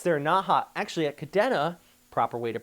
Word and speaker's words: Kadena: Actually, at Kadena, proper way to pronounce it, by the way, you had a 57 knot wind gust there as well.